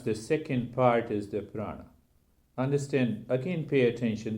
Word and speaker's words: prana: prana so proud now the Sanskrit term prana is made up of two syllables bra no but it means the